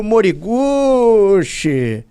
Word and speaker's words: Moriguchi: O professor Moriguchei Pai, a sua história já já começa peculiar porque o Moriguchei pai e como é que é? Eu pronunciei o nome dele errado da outra vez? Yukio. Moriguche.